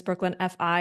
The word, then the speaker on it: Brooklyn FI: managing partner at bkf also known as Brooklyn fi in case you were wondering how to say it um we are both